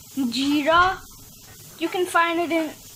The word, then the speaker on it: jeera: I think it's called zira, but actually in English it's pronounced jeera.